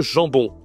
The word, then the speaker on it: jambon: OK, le jambon. toujours la nasale hein, il y a deux nasales même en on gens bon. D'accord, c'est masculin. Et puis voilà la charcuterie c'est souvent ça. Saucisson, jambon.